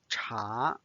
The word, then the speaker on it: 茶: The last word we are going to learn today is 茶. 茶. 茶 means tea, and it's the second tone.